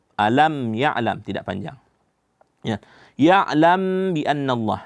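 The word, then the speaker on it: يَعْلَمْ بِأَنَّ اللَّهَ: Ya'lam bi annallah. Di sini mim mati bertemu dengan ba, itu ikhfa syafawi. Nah, dibacanya ya'lam. Nah, bibir kita pertemukan dua bibir. Ya'lam bi annallah.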